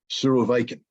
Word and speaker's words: Surovikin: And I've been told that I pronounce his name incorrectly every time I say it. I think I'm supposed to say the following, Surovikin.